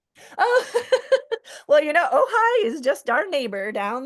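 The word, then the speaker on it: Ojai: Oh, ohigh. Oh, okay. She said she I can see the valley in your artwork. Oh, well, you know, Ohigh is just our neighbor down the road.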